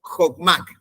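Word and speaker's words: חכמה: la sabiduría en el hebreo se pronuncian se pronuncia como hotmac y siempre vamos a encontrar su traducción como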